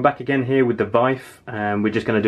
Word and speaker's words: WIWE: The idea is that this particular box, well, more importantly, what's in it, WIWE, I think I've got that right, it's W-I-W-E, but pronounced WIWE, from Hungarian company Sanep